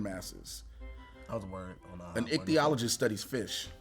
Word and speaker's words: ichthyologist: trying to remember this one doctor dr doctor pronounce this professional title i-c-h-t-y-o-l-o-g-i-s-t t-h-y t-h-y excuse me ethiologist say that one some more ethiologist ichthyologist ichthyologist sorry so close all right right there an